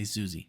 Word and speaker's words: Siouxsie: I know you've heard Siouxsie and the Banshees, and Alexia told me it's pronounced Siouxsie, okay? Just say Siouxsie.